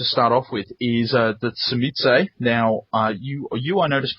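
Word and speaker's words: Tzimisce: off with is the Tsumitse. Now, you I noticed pronounced it somewhat differently. I believe it's a Polish word. And I work with some Polish people, and they pronounce it Shimizi.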